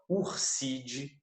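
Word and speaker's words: Ursidae: As famílias de animais sempre terminam com id. Se escreve idai, mas se fala id. Tá? Então, por exemplo, ó, Urside, família dos ursos.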